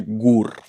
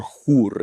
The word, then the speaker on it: HUR: Big portion of the time they're flown by GUR, or HUR, if you want to say it like the Ukrainians.